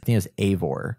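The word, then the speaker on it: Eivor: male or a female the name is as a boar is how they pronounce it so you play as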